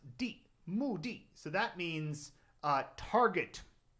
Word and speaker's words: 的: And some of you might recognize this character and think it's pronounced d, but in this case it's pronounced di.